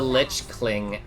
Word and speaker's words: lich: Lich rhymes with itch. Yeah, lich. Yeah, I know how to say the word. It's lich, right?